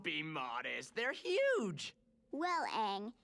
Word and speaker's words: Aang: so what's your name that rhymes with mang and you've got some pretty big ears don't you i guess don't be modest they're huge well aang it's very nice to